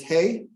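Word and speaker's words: הא: for a door okay the next one is hey hey is in house it's kind of like like the letter h okay doing okay so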